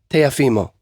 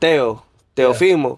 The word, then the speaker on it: Teofimo: So, ¿cómo se dice Teofimo?